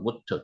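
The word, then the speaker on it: מוּת: 거 사람이자 는 무입니다 무트 죽었고 그래서는 트를 썼다는 겁니다 여기까지 지난주에 했고요 자 오늘은 여기까지 샤가 아홉이라는 뜻이고요 무가 요트가 죽다 뜻입니다 바보의 점이 찍혔 여기 우 발음이라 그랬죠 그래서 트라고 했습니다 무트 자 오늘 여기서부터 이제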